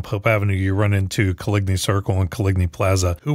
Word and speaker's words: Coligny: gaspard de kolini and the kolini french pronunciation equates to coligny in english and he was the